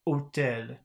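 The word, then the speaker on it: hôtel: the H in construction one two and three above had no pronunciation value it was the value o that you've heard at the beginning of otel listen to words one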